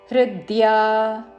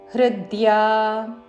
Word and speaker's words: హృద్యా: స్థిరా, సాకి మహాప్రాణాక్షము ధావత్తుతో స్థిరా, రా దీర్ఘము, హృద్యా, హృ మీద ఆఘాత, ద్యా దీర్ఘము, హృద్యా.